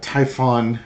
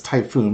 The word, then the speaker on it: Typhon: Uh add additionally, there are also very few uh Typhon I thought don't suppose that's Typhoon, but it's spelled Typhon systems available which Ukraine needs to launch the Tomahawk.